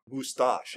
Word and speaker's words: Moustache: Yeah, Moustache, actually. Moustache, that's why there's a C in it.